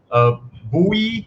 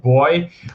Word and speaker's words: buoy: Buoy, or as the UK would like to pronounce it, buoy, and an anchor.